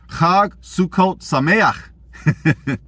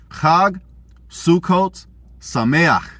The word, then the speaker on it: Chag Sukkot Sameach: Chag Sukkot Sameach. That's right. We flexing. I know us black folks ain't used to saying our gutturals, but that's how you say it.